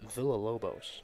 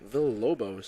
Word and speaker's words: Villalobos: Looks like it's pronounced Villalobos. Villalobos. Based on the pronunciation guide.